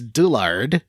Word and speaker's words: Dullard: Pullum, Sue Echo Dan, Alex Dullard, which rhymes with the middle of Dull Aardvark, Megan Sullivan, Andy Best, Miguel Torres, Patrick What?